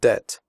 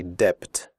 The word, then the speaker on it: debt: traded fitted noted that in the word debt the B is silent we do not say depth we say debt comfortable